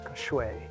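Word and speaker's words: 水: It's shway is what it's called, is how it's pronounced and how it's said in in Mandarin Chinese.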